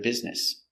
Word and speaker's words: business: a way of making money it's a good business pronunciation busy I'm very busy today b i b